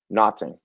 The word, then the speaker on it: Naughton: The next guy, keeping Kyle Naughton.